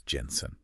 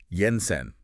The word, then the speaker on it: Jensen: Danish filmmaker Anders Thomas Jensen sounds good and remember pronounce it Yensen Not Jensen Jensen got it okay good